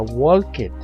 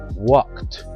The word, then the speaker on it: walked: en Ed no se pronuncia walket la letra e no suena y la letra d suena como una t walked verbo infinitivo to jump